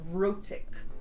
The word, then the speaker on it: rhotic: And them not pronouncing R's at the end of sentences, well, not sentences, words, just like, I don't know, instead of saying star, they'd say star, you know, like the R isn't pronounced. That's called non-rhotic. If something is an R sound, that is rhotic.